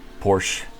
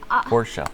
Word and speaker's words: Porsche: what did they say porsche i know right it's a two syllable award poor show wow yeah i'm sure